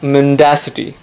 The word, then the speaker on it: mendacity: are often accused of mendacity once again remember the stress is on the second syllable it's not mendacity its mendacity remember in